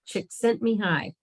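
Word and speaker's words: Csikszentmihalyi: is very very very long uh but it's pronounced chick sent me high so what triggers flow people are always asking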